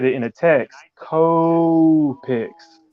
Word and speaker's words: Copic: Like you say it like co-pics, and we all have it like tomato. We all have like a different way of saying it. Yep. I say Copic, but I guess that's wrong too.